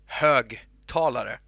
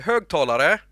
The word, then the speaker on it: högtalare: consumer item, you say högtalare. That's what it is, högtalare. And if you say it, if you're from Gothenburg, you say högtalare. Now you know how to say it in two dialects in Swedish.